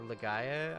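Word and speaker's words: Legaia: I'm curious if anybody in here knows what Legend of Laya is or Legaya, I guess. I think it's pronounced Lega.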